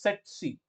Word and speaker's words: tsetse: pronunciations for this is set C okay uh you you can think of like this set C okay where the t is not very prominent like set okay set